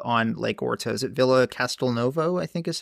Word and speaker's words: Villa Castelnuovo: Is it Villa Castelnuovo, I think is how you say it?